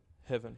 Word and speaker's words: Heaven: Heaven.